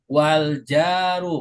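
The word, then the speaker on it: والجارُّ: Waljaru. Perhatikan cara bacanya. Wal jaru. Ini kan kalimat baru lagi setelah koma. Maka wal jaru pakai doma jangan kasr.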